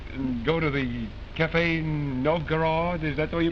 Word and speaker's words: Novgorod: And go to the Café Novgorod, is that the way you pronounce it?